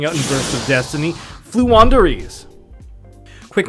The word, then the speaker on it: Floowandereeze: in bursts of destiny flu wanderies quick pronunciation breakdown they flew they wander and they have a breeze so flu wanderies this archetype is 100